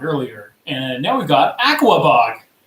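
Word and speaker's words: Aquebogue: the way we pronounce this New York city is Aquabog.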